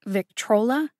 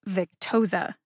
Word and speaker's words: Victoza: instead of omeprazole and victrola instead of victoza some mispronunciations are just